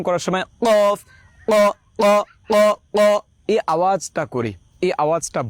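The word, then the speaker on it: ق: উচ্চারণটা হবে কফ কফ কফ।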